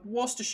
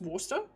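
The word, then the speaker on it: Worcestershire: So, you may have heard of uh Worster sauce. Don't ask me how that's actually pronounced, but I um I think it's actually pronounced Worster because they don't say sh they don't include the sh so wor sauce.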